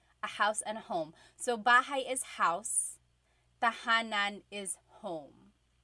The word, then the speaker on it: bahay: Bahay. Bahay. You might notice that the spelling is A-Y at the end, so it looks like bahay, but it's pronounced bahay. That A-Y combination is bahay.